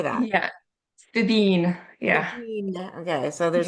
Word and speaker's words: Fíbín: I probably should have asked how to pronounce Fíbín Media. There's a little, how do you say that? Yeah, Fíbín.